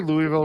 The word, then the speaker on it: Louisville: Yeah, well, Lisa, but does she say Louisville, right?